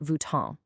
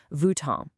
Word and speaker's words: Vuitton: It's not Vuitton. That on is a French nasal sound. It's kind of like you hum the N in the back of your throat. Vuitton.